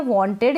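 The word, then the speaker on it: wanted: अगर डी आता है, तो उस ईडी को हम इड प्रोनाउंस करेंगे, इड पढ़ेंगे और इड बोलेंगे।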